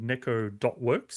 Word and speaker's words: necco.works: a one-person studio called necco.works specifically i read in there on their page you pronounce the dot um and this is